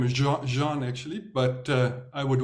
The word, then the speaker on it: Juan: my full name is Jean actually but uh I would always joke that my parents couldn't spell they wanted the French pronunciation and they spelled it the Spanish way I have no Spanish